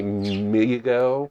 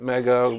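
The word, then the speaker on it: Mego: Uh, it was made by It's actually Migo, but I call it Mega because I didn't No one told me how to pronounce it when I first started.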